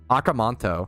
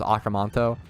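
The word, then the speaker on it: Aka Manto: like $3 on Steam akanto it's spelled um AKA space m a n t o like how it sounds acanto easily the scariest horror game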